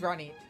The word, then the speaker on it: Ronit: There once was a dwarf named Ronit, a boy with a bee in his bonnet. Oh, I guess that tells me how Ronit is supposed to be pronounced.